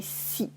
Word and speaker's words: six: in concern after its you remove the S at the end so we just say see for example see from